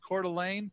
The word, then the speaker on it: Coeur d'Alene: There's a town over in Idaho called Coeur d'Alene. Yeah. I always spell it C-O-R-E hyphen D-U-H hyphen L-A-N-E. Delaney.